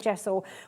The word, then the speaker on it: gesso: Why would I need gesso in my life?